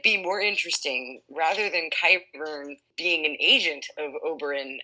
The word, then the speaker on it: Qyburn: it wouldn't it be more interesting rather than kai burn being an agent of Oberyn and Duran and qyburn is spelled q y b u r n no